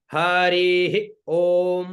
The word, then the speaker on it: हरि ओम: सबसे पहले हरि ओम तो आओ हरि ओम का उच्चारण करते हैं हरि ओम मा हरि ओम है ऊपर ऋ बीच में इतना तो समझ गए है ऊपर और ऋ बीच में और ओ म ठीक है ना है